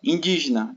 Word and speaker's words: indígena: que é a proparoxítona é uma palavra que tem a antepenúltima sílaba tônica tá então na é a última G é a penúltima e di antepenúltima Então Di a mais forte indígena tá portanto aqui